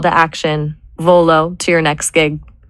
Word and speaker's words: Volo: What about V O L O? V O L dot. It's two syllables. It sounds like volunteer or velocity.